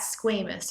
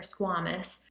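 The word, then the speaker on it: squamous: squished down and flat, we would call that squamus or squamus. People pronounce it differently depending on who they learned from.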